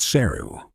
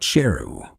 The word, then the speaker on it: Sheru: that all this time he was mispronouncing his name his name is not cereal but sheru which means lion if